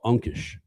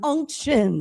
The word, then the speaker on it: unction: They told me there's something called Unkish. No, it's unction.